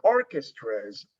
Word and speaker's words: orchestras: again this one so orchestras i noticed that orchestras that the the i mean the stress is an or or and then you pronounce the ch like like a k sound orchestra's orchestra terms and